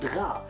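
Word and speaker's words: غ: The closest example that I can give you in pronouncing the sound Gha is that you try to imagine a French guy speaking in English.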